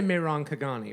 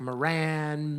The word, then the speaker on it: Mehran Khaghani: Well, I would say Mehran Khaghani, right? Okay. But that's because, that's what we figured out. That's what we landed on as an Iranian trying to get Americans to say her name. Right, Otherwise, right. as a kid, it was like Moran, Metron, Megatron.